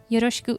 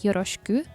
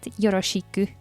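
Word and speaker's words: よろしく: onegaishimasu by the way when saying yoroshiku you don't pronounce the shi fuli just as an sound and not yoroshiku together with saying yoroshiku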